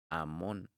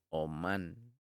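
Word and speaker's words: אמון: No lo pronuncies como un niño de pecho, que en hebreo es Amón, sino más bien como un artesano, que en hebreo es Omán, porque era una herramienta para su oficio.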